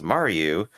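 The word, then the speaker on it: Murrue: Her name is pronounced as Maru, making it closer to Marco.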